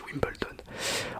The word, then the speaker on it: Wimbledon: Ça s'écrit Wimbledon mais ça se dit Wimbledon.